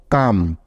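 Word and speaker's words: come: এখন দেখো, সবার শেষে ই আছে, তাই এখানে ই বর্ণটা সাইলেন্ট থাকবে, অর্থাৎ এখানে ই এর কোনো সাউন্ড হবে না, ঠিক আছে?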